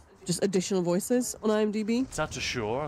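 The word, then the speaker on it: Tatasciore: Tatashore, I think it's pronounced.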